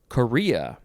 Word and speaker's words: chorea: Next, we have Korea. It is spelled Chorea. It is not the country, Korea.